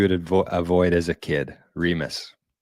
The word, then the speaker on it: Remus: Arnie and Ramis Insurance. Who's Ramis? Is that the wolf? Must be. Remus. Remus. That's a name that you would avoid as a kid. Remus. Rhymes with penis.